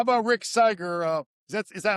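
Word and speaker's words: Sygar: How about Rick Siger? Uh is that is that am I pronouncing it right? Uh Tom Seager.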